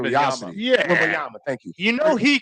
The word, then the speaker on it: Wembanyama: People are just going to go want to see him out of Wembanyama. curiosity. Yeah. Wembanyama, thank you.